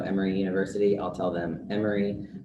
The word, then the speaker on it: Emory: university i'll tell them emory rhymes with memory um it's silly but